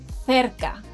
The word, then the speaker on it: cerca: Did you notice that letter C has two different pronunciations in the last word? Well, that's because when letter C appears in front of vowels A, O, U, it sounds like letter K in English.